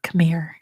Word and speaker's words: Khmer: to fear it is Khmer come here which apparently it's pronounced um but Khmer is how we say it in English why so many letters